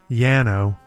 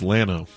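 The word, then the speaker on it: Llano: Country where you used to live it's not Yano no it's Lano it's Laurel it's Laurel pronunciation uh okay so this band had to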